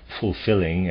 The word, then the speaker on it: fulfilling: to regulate the breath in words like fulfilling and willing both elves must be pronounced you shouldn't put an H into the first L but the two elves must be sounded one after the other you must also try